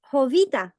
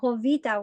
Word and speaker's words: Jovita: to share with you hovita hovita the J is silent so hovita wore pants the story